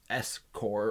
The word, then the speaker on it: SCOR: They call it S-Core or SCORE, if you want to say it like that.